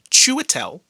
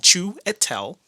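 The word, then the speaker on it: Chiwetel: up against the wall the actual correct pronunciation of this man's name this hollywood actor's name is uh chewitel chewitel chu etel chu etel yep g04 a g04 okay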